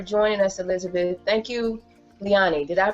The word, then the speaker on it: Liani: thank you for joining us Elizabeth thank you leani did I pronounce it correctly yeah that's right okay thank